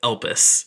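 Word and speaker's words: Elpis: moon is known as elpus e l p i is how I've spelled it doing my hardest to not pronounce piss in that sentence but elus is the Moon's name now you get those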